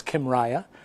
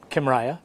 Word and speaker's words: Kymriah: couple of different names the easiest one to pronounce is Kym Riya it's also got a generic name which is tissa Jen like Lou sole so Kim Riya well thank you thank you I've been practicing